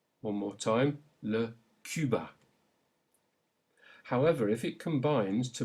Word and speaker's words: Cuba: This is a tricky, very French sound, and it is pronounced U, as in le Cuba. Say it. Le Cuba. One more time. Le Cuba.